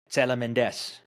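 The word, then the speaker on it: Τσελεμεντές: How do you pronounce his last name again? Tselementes Tselementes?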